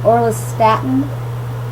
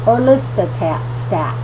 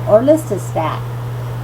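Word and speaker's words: Orlistat: with Weight Control was orist Statin I'm sorry I said that wrong orista stat I'm sorry that's how you say it orista stat anyways it inhabits lipase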